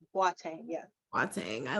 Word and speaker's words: Boateng: People pronounce it differently. I've heard Boateng, but my husband is actually from Ghana, West Africa, and Sweet. it's pronounced Boateng.